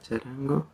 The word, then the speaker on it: charango: - A kitten playing the charango. - You have to put it in English. A cat playing... Let's see how to say charango. - Charango! - Let's check how it's pronounced - Charango.